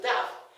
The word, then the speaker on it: dove: look at this D the bird is pronounced as D that's the reason when